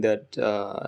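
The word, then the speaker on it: ث: You put your tongue, tip of your tongue touches the tip of the upper teeth right here.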